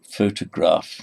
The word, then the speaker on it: photograph: We look at photograph. You see, and photographer. So photograph, stress on the first syllable.